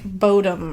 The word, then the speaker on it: Bodom: And it's Bodom. O-M, yeah. So I feel like Bodom is right.